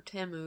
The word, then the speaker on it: Temu: reason you're not familiar with Teemu or TAMU yet whichever way you want to pronounce it it is a shopping